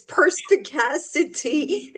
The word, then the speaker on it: perspicacity: It's perspicacity. It's 5 syllables long, but I just love the word.